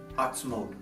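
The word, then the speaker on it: עַצְמוֹת: Usually we pronounce this word in the Torah as atzmot, bones. But notice down here, when we take the little dot over the vav and we put it on its side, it's pronounced atzmut. Goes from atzmot to atzmut.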